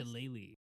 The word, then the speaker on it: Shillelagh: Okay, I'm gonna cast Shillelagh, or however you pronounce this. Shillelagh.